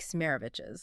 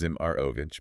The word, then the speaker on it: Zimarovich: source material of Mike Smerovich's. That's pronounced Zimarovich, by the way, for anyone taking notes at home.